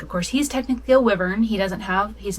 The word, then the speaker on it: wyvern: And I know it's supposed to be pronounced wyvern, but I prefer wyvern, so that's what I say.